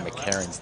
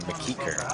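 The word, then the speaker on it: McEachern: And that was actually Slick Rick who was pronouncing Lon McCarron's name Lon McKeeker.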